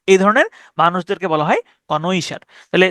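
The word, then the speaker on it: connoisseur: খুব কদর করেন এই ধরনের মানুষদেরকে বলা হয় কনইশার তাহলে সি O double N ও আই এস এসই ইউ আর কনইশিউর আপনি এভাবে উচ্চারণ করতে পারেন কনশ কনইশশিউর কনশর ঠিক আছে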